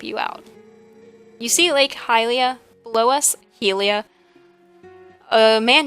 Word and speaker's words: Hylia: I know that the pronunciation is Hylia, but I've said Helia for as long as I can remember, so I'm just going with Helia.